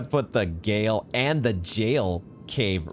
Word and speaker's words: Gaol: I was so ready to say it's the Gaol Cave. The Jail Cave.